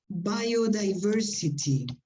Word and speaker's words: biodiversity: Despite that, there were some difficulties in pronunciation, like biodiversity. Here we have two words. All the words starting with B-I-O, you should pronounce it bio, biology, biochemistry, okay, all of them.